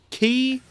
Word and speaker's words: Ki: Yeah, it's key. K-I. Of course it's key, dude. It would have to be key so they can have the clever wordplay. Yeah, I'm just making sure phonetically it's key. That fits with Japanese. Yeah, of course it's key, dude. If it was Kai, it'd be K-A-I.